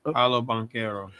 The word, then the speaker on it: Paolo Banchero: How do you pronounce? Paolo Banchero.